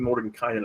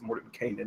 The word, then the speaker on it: Mordenkainen: for a while saving more than kind it gets more to Canaan it's the right way to say it it's just so ingrained